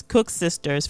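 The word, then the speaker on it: Koeksisters: from our South African friend on how to pronounce this. So it's Cook Sisters from Southern Africa, and Buns and Puff Puff, which are mainly common in West Africa and parts of Central Africa.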